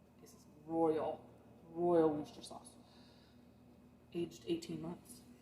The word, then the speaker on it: Worcester: We can have a great debate on how to pronounce Worcester. Some people with Chestershire, Worcester. Apparently the people of Worcester call it Worcester, so I call it Worcester sauce, but it looks like it's Worcestershire. This is royal Worcester sauce.